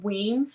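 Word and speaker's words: Wemyss: whatever so her father his name was joseph weems that's how you pronounce her last name he ended up in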